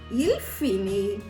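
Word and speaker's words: il finit: ஆனா ப்ரொனவுன்ஸே பண்றது வந்து நம்ம ஒரே மாதிரி தான் ப்ரொனவுன்ஸ் பண்ணணும். புரியுதா? நான் தே போட்டாலும் இங்க எப்படி ப்ரொனவுன்ஸ் பண்றேன்? இல் ஃபினி, எல் ஃபினி, ஓ ஃபினி அப்படிதான் ப்ரொனவுன்ஸ் பண்றேன். இது வந்து நீங்க நல்லா ஞாபகம் வச்சுக்கணும்.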